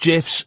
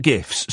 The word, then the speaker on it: GIFs: It's pronounced GIFs, not GIFs.